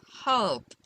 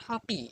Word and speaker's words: hope: Okay, so hope. It's not hoppy. It's not hoppy. It's hop. So E is silent, but it's helping the other vowel sound to sound more longer.